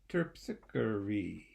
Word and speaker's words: Terpsichore: you to spell it terpsichore let's spell it together T e r p s I see H Oh our e terpsichore four syllables okay well we're gonna